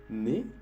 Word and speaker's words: nez: EZ también. EZ puedes encontrar en la palabra ne, que es decir nariz, se escribe N-E-Z.